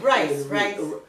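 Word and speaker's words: Reis: Frank and Rice. Oh, it's spelled R-E-I-S. But it's rice. Oh, like they spelled it wrong.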